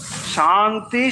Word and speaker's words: শান্তি: কিন্তু যখন আমরা শান্তি উচ্চারণ করব তাহলে মনে রাখবো এটা হচ্ছে তালব্যস শান্তি শান্তি শান্তি। এটা শান্তি নয় বা শান্তি এটাও নয়।